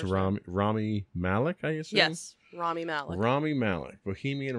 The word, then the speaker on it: Rami Malek: probably gonna pronounce this name wrong can you pronounce it for me it's ROM rami malek is yes rami malek Bohemian Rhapsody which we